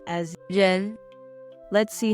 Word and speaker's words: 人: This character is the second tone, so it should be